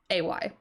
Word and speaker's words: Ulay: Ulay, I think is how you say it. I don't know how to pronounce it. It's Ulay.